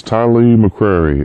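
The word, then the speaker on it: Tylee McCreary: first um what's your name how do you spell it my name is Ty McCreary uh t y l e e m CC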